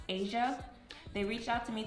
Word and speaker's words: HSIA: the name of hsia I believe it is pronounced Asia they reach out to